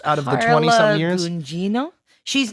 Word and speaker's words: Gugino: Gugino? She's not. It's not Hispanic. It's Italian. It's Italian. So you have to pronounce the G.